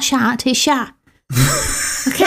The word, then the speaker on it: chat: remember that I remember Ethan chat I kept pronouncing the T in cat chat it's not chat is shot okay say chat everywhere but anyway you you